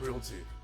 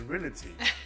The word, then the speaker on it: realty: important things she said i'm going to show you guys how to how to say the word realty and how to spell it because people would like to say reality there's no i in in realty it's r e a r e a rea lty not re you know not really a team so she's